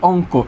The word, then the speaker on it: অঙ্ক: ওকে, এরপর আছে অঙ্ক, উচ্চারণ কী হবে? অ আছে, দিলাম আমরা অ। এরপর একটু খেয়াল, অং, উ হসন্ত অং। এরপর আছে কৌকার কো, হবে কি? অঙ্ক।